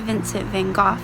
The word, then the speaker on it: Vincent van Gogh: And Miss Clarkson is talking to you about an artist named Vincent van Gogh, or Vincent van Gogh is how his name is actually pronounced.